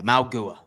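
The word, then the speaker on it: Mauigoa: Yeah, Maugua.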